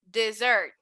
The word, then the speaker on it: dessert: dessert yes so we gotta be careful with the pronunciation here because there is a very similar word which is desert so notice how this word here has two s's and this one only has one s so if i'm talking about this i'm going to pronounce it dessert go ahead and repeat